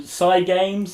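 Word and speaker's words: Cygames: thing and uh so cy games cy games like cy games i don't know how they want to it's pronounced psycho i don't know how they want to do it and i don't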